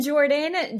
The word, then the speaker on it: Geordian: connected but all right I'm Jordan Jordan with the G it's like what I